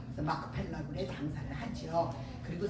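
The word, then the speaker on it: מכפלה: 히브리어를 정확하게 표 이렇게 발음을 하면 이게 맞는 발음이에요 마크 펠라 그래 장사를 하지요 그리고 세 번째는 입주하게 아내를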